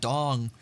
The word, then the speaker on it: Dawng: I'm putting a G at the end because it would still be pronounced Dong.